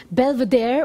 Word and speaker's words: Belvedere: Und danke James' Album Belvedere, auf Englisch ausgesprochen, abladen.